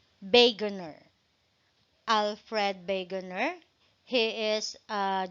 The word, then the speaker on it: Wegener: We have Alfred Wegener, or it pronounced as Alfred, according to the book, it pronounced as Wegener.